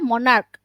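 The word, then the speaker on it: monarch: মনার্ক, মনার্ক উচ্চারণ সিএইচ দিয়ে হলেও চ না, এটা হবে মনার্ক।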